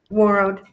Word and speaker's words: Warroad: Warroad? Warroad.